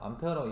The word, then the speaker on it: 암페어: 1A, 암페어라고 읽어요.